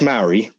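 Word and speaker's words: Maori: m a o r i yes no that's Mari that there people there was a people before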